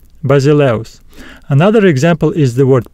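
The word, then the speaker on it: βασιλεύς: but we do not pronounce this word as basileus basileus no we pronounce it as basileos basileos another example is the word paos we have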